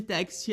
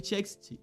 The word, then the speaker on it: TXT: grupo e até mesmo pronunciando incorretamente o seu nome, os chamando de Text ao invés de TXT.